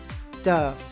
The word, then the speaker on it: Dove: 如果你是学自然发音法的话，你会直觉念 Dove，但它不是这样念，它念 Dove。